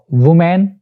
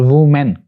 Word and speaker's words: women: गलत बोला जाता है, वुमेन और वुमेन, इसको ऐसे बोलते हैं लोग, लेकिन दोनों ही प्रोनाउंसिएशन गलत हैं। जो ए वाला है WOMEN, इसको बोलते हैं वुमन, वुमन, और जो प्लूरल है